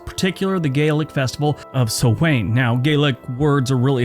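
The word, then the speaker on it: Samhain: Celtic Harvest festivals particularly the Gaelic Festival of sowain now Gaelic words are really hard to pronounce some people call it Gaelic some people call it Gaelic but Swain is actually spelled Sam Hayne so in case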